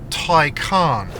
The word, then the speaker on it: Taycan: Now, there is actually an official Porsche way to pronounce this, which as I understand is Tyan.